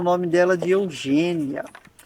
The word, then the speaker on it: Eugenia: Eugênia, a gente lê Eugênia, mas se escreve Eugenia.